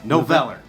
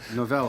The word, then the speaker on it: Noveller: We have music coming later from Noveller. And did I fuck that up already? Just Noveller. Noveller.